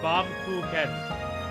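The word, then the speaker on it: Baumkuchen: Bomb Kuken.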